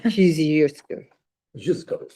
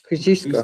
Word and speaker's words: Kosciuszko: And Kosciuszko. Kosciuszko. Kosciuszko.